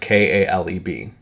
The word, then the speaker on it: Caleb: You see it's pronounced Kaleb, okay? KH, there's in Hebrew, there's a K and a KH sound, basically.